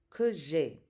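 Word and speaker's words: que j'aie: It's que j'ai. That A-I-E is just pronounced E.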